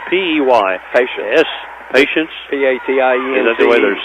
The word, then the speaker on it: Patience: P-A-T-I-E-N-C-E. Is that the way they're saying it? It's pronounced just like P-A-T-I-E-N-C-E, Patience.